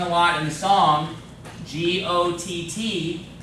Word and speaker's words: Gott: lot in the song, G-O-T-T, that's how you say God in German. Gott. Okay? Gott. It's not quite got, but it's not goat, it's Gott.